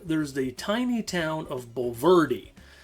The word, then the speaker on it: Bulverde: Not far from the park, there's the tiny town of Bulverde. And Bulverde, yeah, that's the right pronunciation.